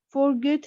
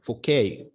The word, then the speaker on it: Fouquet: When she told him that she had some papers which proved that his friend Forget has stolen. His friend Fouquet. Fouquet. The letter T here is silent.